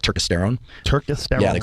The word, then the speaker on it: turkesterone: do you spell it apparently you pronounce it turkesterone I pronounce it turkesterone I'm an idiot but what else is